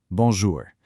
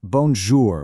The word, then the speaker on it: bonjour: It's not bonjour with a hard, sharp English R at the end. Actually, scratch that hard R entirely. It's bonjour with a very soft, almost silent R.